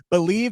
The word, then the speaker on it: BLEAV: Just use our promo code BELIEVE. That is spelled BLEAV.